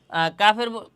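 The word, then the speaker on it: كاف: আগে আমরা কাফ mosque করি এরপরে আবার বলব কাফের মাখরাজ বলছিলাম জিহ্বার গোড়া থেকে একটু আগাইয়া কাফ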